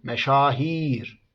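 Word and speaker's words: meşâhir: vezinde y harfi yoktu Dolayısıyla önceki vezinde kelimeler kısa olarak okunurken bu vezinde kelimelerin i hecesi kesinlikle uzun okunmak zorundadır Çünkü burada bir y harfi vardır mesela meşhur kelimesinin çoğulu meşahir Mecmua kelimesinin çoğulu mecamiul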